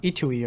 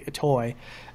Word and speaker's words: Itoi: I think it's actually accurately pronounced Itui or something like that, even though I like to say Itoi.